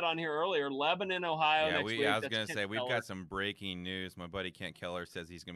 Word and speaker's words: Lebanon: Lebanon. Well, so in the Middle East, it's Lebanon, right? But in Tennessee, it's Lebanon. Lebanon?